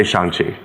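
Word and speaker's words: Shang-Chi: film oh my god am i saying that right shang you know people say shang people say shang either either you pronounce it for me so that because pronunciation in my opinion it does matter and i i i want to make sure we all know how we actually pronounce the title of your film yeah um i would say shanxi um i think you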